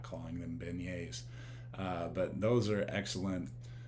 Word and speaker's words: beignets: i you know it's it's kind of spelled like been yet so but i and so i said vignette and i got a